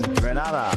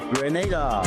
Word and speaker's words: Grenada: It's not Granada. It's Grenada. Say it right.